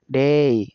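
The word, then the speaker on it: day: উচ্চারণ এই হয় অর্থাৎ শব্দের শেষে যদি এ ওয়াই থাকে তাহলে উচ্চারণ হবে এই যেমন এখানে দেখেন ডেই আমরা বলি ডে আসলে ডে না এটা হবে ডেই আমরা বলি মে না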